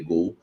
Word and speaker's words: Goal: do site Gol né se escreve goal mas é se lê Gol site Gol deu a